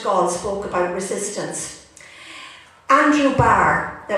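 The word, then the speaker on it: Bart: when Charles de Gaulle spoke about resistance, Andrew Barr, now it's spelled B-A-R-T, but it was Andrew Barr, he was a heavy porter in the hospital.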